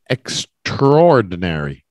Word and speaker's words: extraordinary: the ordinary of course extraordinary um and it's pronounced a bit unusually they take the A out and they go right into the ordinary extraordinary you know it's extraordinary how that man survived